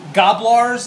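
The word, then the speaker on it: Gnoblars: I shot his Gobblars, as we determined. The N is silent.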